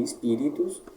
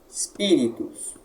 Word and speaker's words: Spiritus: A braquia aqui aparece de novo no Ri. Se ela aparece no Ri de Espíritos, a tônica anterior. Pi, Espíritos. O S aqui, ele é mudo, tá? Ele deve ser pronunciado como se houvesse um I antes dele, mas de uma maneira bem breve. Espíritos, dessa forma.